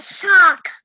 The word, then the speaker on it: soccer: I like soccer. Cờ. Âm cờ chứ không phải là chữ K. Âm cờ chứ không phải âm K.